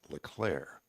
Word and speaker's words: Leclerc: And by the way, Dan's name is Leclerc. The C is silent.